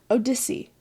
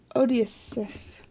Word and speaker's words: Odysseus: Odyssey. How do you say this? Odysseus. Hold on. Please hold. Odysseus. See, the spelling actually threw me off with my undiagnosed dyslexia.